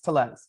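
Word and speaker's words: Tellez: say his name I've been saying tles it's tles yeah Rowdy tles he's been a guy who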